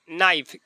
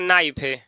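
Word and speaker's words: knife: जाएगा जैसे एक और हो जाएगा नाइफ के एन आई एफ इसको पढ़ नाइफ नाइफ मीस चाकू हो जाएगा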